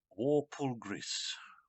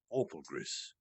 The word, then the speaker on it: Walpurgis: And I've been saying the banquet name wrong. It is Walpurgis. Walpurgis.